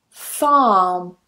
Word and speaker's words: far: Again, we don't pronounce that R at the end.